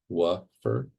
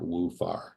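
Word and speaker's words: WUFAR: It's pronounced WFR. WFR, not WFAR.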